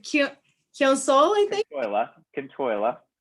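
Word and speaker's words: Cionn tSáile: Kintoila, right?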